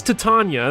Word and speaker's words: Titania: where's iliana there's ileana titania or titania it is titania that's the actual name i don't know if heroes confirmed to tonya but uh that's how it's said in a midsummer night's dream so i gotta pull